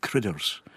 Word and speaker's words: Carruthers: It comes from the lands of Kurthers which are in dumper down there though they pronounce it critters just to confuse everyone.